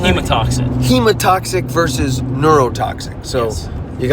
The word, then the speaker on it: hemotoxic: Hematomic between, how do you pronounce it? Hemotoxic.